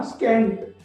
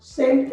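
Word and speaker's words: scent: रहा है ना, तो इस वर्ड को हम ऐसे नहीं पढ़ेंगे ना, स्कैंट नहीं पढ़ेंगे, क्या कहेंगे, सेंट कहेंगे। अगर यहाँ पे सी भी दिख रहा है और एस भी दिख रहा है तो एस ही साइलेंट है, ओके।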